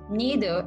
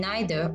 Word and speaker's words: neither: neither take note that you can also say neither both neither and neither are acceptable so it is used